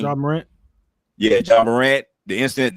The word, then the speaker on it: Ja Morant: Now, if it's something negative, like in Jay Morant, I think that's how you say his name. Ja Morant.